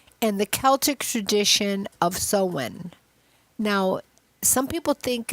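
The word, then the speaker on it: Samhain: about October 31st and the Celtic tradition of sewen. Now, some people think it's it's pronounced Sam Hayne. S A M H A I N. But it's a Celtic name, so it's pronounced Sen.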